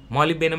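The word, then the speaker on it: molybdenum: मॉलिबेनम में D silent होता है ना, मॉलिबेनम।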